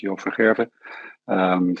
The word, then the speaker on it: Joop van Gerven: And then we have Joop van Geven, if that's correctly pronounced. I apologize. Thank you. Yeah, no, that's fine. My name is Joop. Yes, Joop van Gerven.